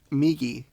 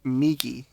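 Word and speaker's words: みぎ: I told him Migi, which means right, and Hidari, which means left.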